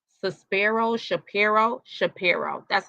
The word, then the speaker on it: Shapiro: H let's say his name right Saro Shapiro Shapiro that's how you say it Shapiro so Jay-Z's